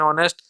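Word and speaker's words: honest: है तो है लेकिन इसमें देखिए ऑनेस्ट एंड ऑनेस्ट यहां पहला अक्षर जो है कंसोनेंट है लेकिन इसका हिंदी में उच्चारण करके आप देखिए हिंदी में उच्चारण आपका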